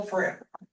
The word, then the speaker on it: Frigm: Greg pronounced it that way, but it's Frigm. Those of you who know me, solid G.